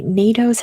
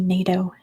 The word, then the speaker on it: NATO: in what city NATO sorry I'm Californian n-a-t-o NATO it is Brussels that goes to lydmula yes with me I got it in California we would say let me get out of my ASMR voice NATO NATO I would say nato um Mainland Denmark encompasses